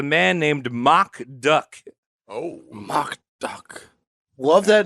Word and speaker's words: Mock Duck: named mock duck oh mock duck love that name did you double is that actually how it's pronounced that is how it's